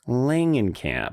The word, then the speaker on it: Langenkamp: to get it right it's Heather Langan Camp Langan Camp yes hard G on that yeah folks the running gag